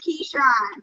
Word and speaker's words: Keyshawn: Yes, you said you know how to say my name is Keyshawn.